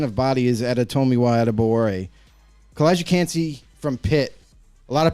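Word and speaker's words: Calijah Kancey: I don't even know how to pronounce that either. What is that, Kalijah? Kalijah Cansey. Boom! I got it. Ding, ding, ding. Kalijah Cansey, I have him as my third D tackle.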